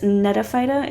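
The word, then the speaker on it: Gnetophyta: another phylum which is nete phyta it's a silent g and these look crazy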